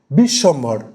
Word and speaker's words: বিশ্বম্ভর: বিষ সম ভর, আমি উচ্চারণে যাচ্ছি, সন্ধির নিয়মে কিন্তু বিষয়টাকে দেখবেন না অবশ্যই, এটা উচ্চারণ, পুরোটাই উচ্চারণ নির্ভর বিষয়টা, এই দল ব্যাপারটা। তাহলে এখানে বিশ্বম্ভর, আমি তিনবার কিন্তু স্ট্রেস দিলাম, আমার কথার মধ্যে তিনবার আমাকে কিন্তু থামতে হলো, বিশ্বম্ভর।